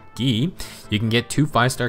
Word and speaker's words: Guy: i believe and it's gonna be guy or as i learned it's pronounced ghee you can get two